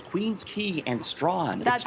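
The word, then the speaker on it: Queens Quay: absolutely i'll uh i know how to properly pronounce queen's key and straw that's like extraction yeah queen's key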